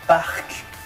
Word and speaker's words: parc: Donc là, vous avez le premier mot, c'est « parc ». Donc, il termine avec un « c », donc on prononce, et ainsi de suite.